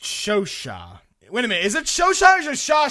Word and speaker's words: Chauchat: the Chauchat can’t catch a f!@#$%& break dude. The Chauchat… wait a minute, the script says pronounced “show-sha”...